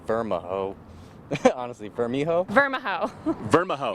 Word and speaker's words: Vermijo: If I was to pronounce that, I'd say Vermijo, or other people would say Vermijo. Honestly, Vermijo? Vermijo. Vermijo. Yeah, silent J's all around.